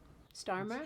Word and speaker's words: Starmer: In the UK's case, when England's prime minister Kier Starmer, which I feel like I'm saying incorrectly, you're saying it right. Starmer, Kier Starmer, Starmer, Starmer, Starmer.